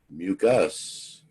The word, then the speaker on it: mucous: to the two terms, mucus and mucus. They're pronounced exactly the same, but you see they're spelled differently.